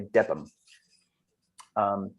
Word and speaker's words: Debenham: It's spelled Debenham, but I think the locals say Debb um and uh their their their church there uh doubling for Boston.